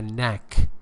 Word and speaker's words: knack: The knack K is not pronounced.